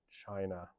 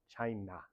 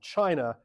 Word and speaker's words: China: And then, in the 90s and 2000s, it's all about China, or as Donald Trump would pronounce it, China. For some reason. Always the stress on the na.